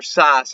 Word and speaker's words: Sass: And to be blunt, Herr Sass is how they say it in Germany, but Sass is how they say it in America.